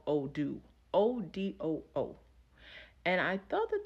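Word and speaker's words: Odù: system that we use is called Odoo, and it's spelled ODU.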